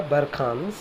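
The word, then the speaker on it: barchan: नाउ बरखांस, pronunciation इसका होगा बरखांस।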